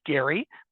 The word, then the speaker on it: Gerry: the time was Elbridge Gary and it is pronounced with a hard G and so even to